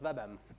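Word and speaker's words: WBEM: webbased Enterprise management uh that's the abbreviation pronounced webm and part of the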